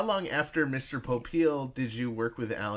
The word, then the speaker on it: Popeil: pope uh popul there's a branch that that pronounces their name popul with the uh with the emphasis on the